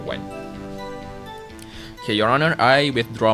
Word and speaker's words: Wan: Wen like the number. It's spelled W-A-N, but you pronounce it like the number, Wen.